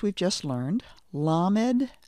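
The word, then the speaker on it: למד: on the next letter in our list is lamed repeat after me LED I'm giving the sound after the letter again lamed the next letter after lamed is mim listen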